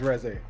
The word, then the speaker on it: Reze: pronounced Reze. I'm saying Reese. Reze. I would accept. I got Reze. power. I got the It's power not to. Reese, You know what I'm bruh. saying? It's not Reese.